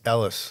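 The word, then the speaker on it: Elwes: How do you pronounce the last name? Cary Ewells? Ewells? Ells? E-L-W-E. Cary Ellis, I always thought he was. Elvis? Ellis? Ellis. Okay. Ellis. Okay.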